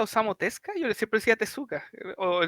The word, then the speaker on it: Osamu Tezuka: que escuche se llama se pronuncia osamu tezuka izquierdo decía mal japonés pasa algo raro que es muda bueno ya no